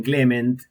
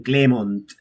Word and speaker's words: Clément: Argentina era eh que sepan pronunciar el nombre porque era o yo les decía que digan Clement o que me llamen Clem.